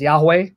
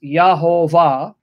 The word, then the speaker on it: Yahuwah: Jesus name even though for years I would pronounce the divine divine name as Yahweh I have been convinced by the research of